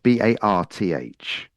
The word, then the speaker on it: Bath: So It's Bath, Barth. It's not Bath. So there's an R in there.